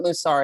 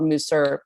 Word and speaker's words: mussar: had no idea what mussar is it's also called Musser it's pronounced two different ways and the more I